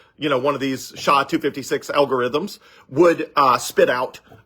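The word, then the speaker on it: SHA-256: is the same one right now is called sha 256 s h a256 and it's uh I forget it's a complicated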